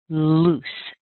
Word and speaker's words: loose: a l sound but the double O in this word sounds like ooh so it's the same ooh you would find in sh or glue or maybe even who nice ooh sound where you round your lips quite a bit Lou and then you